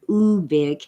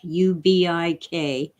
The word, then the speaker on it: Ubik: many people pronounce it ubic ubik but Phil called it ubic it was short for ubiquitous UVic is everywhere um